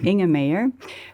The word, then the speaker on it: Inge Meijer: Donc, je m'appelle Inge Meyer. Les gens ont beaucoup de mal à prononcer mon nom, donc c'est Inge Meyer.